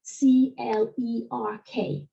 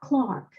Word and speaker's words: clerk: If you think about the word C-L-E-R-K, in British English, we pronounce that Clark.